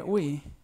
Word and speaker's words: we: están abajo las pronunciaciones esa w o w suena como la u que pronunciamos en español por eso es we we